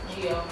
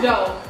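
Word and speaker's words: giò: There's a famous popular food here in Vietnam and it's called Gio. Not really, it's called Yeah. Dough. But it's Dough. spelled Dough? Dough. But it's spelled like G-I-O.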